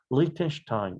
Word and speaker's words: Lichtenstein: 원래 이 단어는 독일어 계통 단어이기 때문에 Liechtenstein 이렇게 발음이 독일어로는 됩니다.